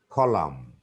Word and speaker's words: column: Number 12, N is silent if a word ends with MN. Column, N isn't pronounced.